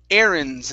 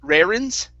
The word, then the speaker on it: errands: And this one here is errands instead of rarins.